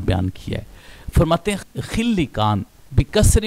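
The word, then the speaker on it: خلکان: تلفظ سامنے آئے۔ لیکن جو رائج ہے اور جو زیادہ تر پڑھا گیا ہے اور جس کے تلفظ کی طرف زیادہ تر علماء اسلام گئے ہیں وہ ہے خلقان، خا کے فتح کے ساتھ اور لام کی کسرہ کے ساتھ خلقان۔ تو اس کو ہم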